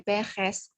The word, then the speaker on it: Perez: Ya, le nom de famille est Perez. S, vous prononcez S, S-nya dilafalkan, ya.